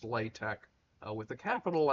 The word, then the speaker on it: LaTeX: Uh it's spelled like latex and it's pronounced latte uh with a capital L, a capital T and a capital X.